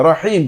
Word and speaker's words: رحيم: উচ্চারণ করতে হবে বিসমিল্লাহির রহমানির রহিম بسم الله الرحمن الرحيم রহিম হলো কেন রহিম হা চেপে বলতে হবে আমি যদি রহিম রহিম বলি তাহলে উল্টা অর্থ হয়ে যাবে রহিম চেপে বলতে হবে বিসমিল্লাহির